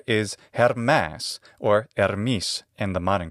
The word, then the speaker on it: Hermes: Latin and In classical attic his name is hermas or her in the modern Greek pronunciation we don't know where Hermes came from